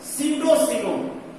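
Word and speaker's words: pseudocoelom: सीडोसीलोम, SIDO PSEDO, PS SIDO, सीलोम, P silent रहेगा, सीडोसीलोम ये पाया जाता है।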